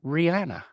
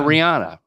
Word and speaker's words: Rihanna: He is married to Rihanna. Oh my goodness. And some people call her Rihanna.